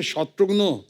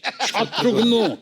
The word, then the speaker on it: शत्रुघ्न: मिसाल के तौर पे मेरे बंगाली फ्रेंड अभी तक मुझे कहते हैं कि रे शत्रुघ्नो केमन आशीष। शत्रुघ्नो डॉक्टर नो का भाई बना दिया है।